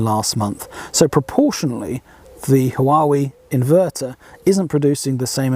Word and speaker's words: Huawei: than last month but the hawaii inverter why we if that's how you'd like to pronounce it generated less than last month so proportionally the huawei inverter isn't producing the